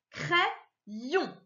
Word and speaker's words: crayon: Alors, tu vois, je vais jusqu'au bout du Y, C-R-A-Y, ça se lit cray. Et ensuite, yon. Alors, tu as vu, j'ai repris encore le Y dans ma deuxième syllabe. Crayon.